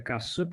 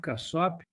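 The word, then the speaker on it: Casap: Seu sobrenome se pronuncia Cassup. Cassop. Cassop.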